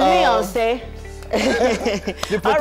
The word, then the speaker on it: Miyonse: Okay, so here with me in the kitchen is Miyonse. That's actually how to pronounce his name.